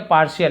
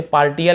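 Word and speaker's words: partial: पार्शियल आंशिक, ठीक है, पार्शियल, इसे पार्टियल ऐसे नहीं पढ़ेंगे, श उच्चारण होता है।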